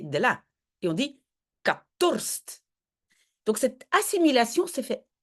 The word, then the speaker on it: ik had dorst: Donc, le k, c'est ik. Peut-être que ça vous avez trouvé. Had. Oui, on dit toujours un T à la fin, ça d'office. Mais la H, voilà, normalement, on ne prononce pas.